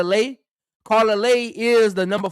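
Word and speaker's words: Leite: Some people say Lette, some people say Lay. But I've heard people say Lay and Lete, so I'm gonna say Carla Lay.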